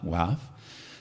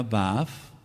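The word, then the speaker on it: וָו: La letra va wav suena como u y suena como o. La letra vaf, wav, que es lo más correcto, suena como u y suena como o.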